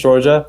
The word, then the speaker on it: Shourjya: Well, my name's Shourjya. I tell people it rhymes with Georgia, which is Shourjya, perfect. the European nation or the American state. It works for both.